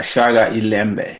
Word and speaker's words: Shaka iLembe: The Shaga Ilembe. It's a Okay. SHAKA and then ILEMBE. NBE. I see it. Can you pronounce it again? Yeah. Shaka Alimbe? Yeah, Shaga Ilembe.